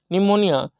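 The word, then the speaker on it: pneumonia: टी इ य प्लट निमोनिया पी एन ई पी एन ई यू एम ओ एन आई ए निमोनिया देखिए यहां P silent होता है pre dominant P आर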